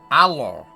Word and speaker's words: Alo: say Alo and Kerbal alo alo a l o h Alo like hello you think I'm kidding